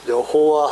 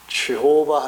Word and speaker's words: 여호와: 우리는 여호와 할 때는 Y 발음을 합니다. 근데 영어에서는 지호바 하니까 그 J 발음을 하는 건데요.